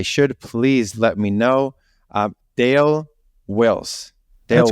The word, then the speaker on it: Dale Wills: And today with me, and again, if I don't pronounce it as I should, please let me know. Dale Wills.